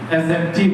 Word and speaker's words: adjective: adjective पढ़ेंगे, because here D is silent, so we can pronounce adjective।